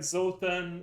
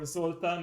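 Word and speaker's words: Zoltan: And fun fact, Zotan or Zultan in the original pronunciation is a Hungarian name, so I automatically like him.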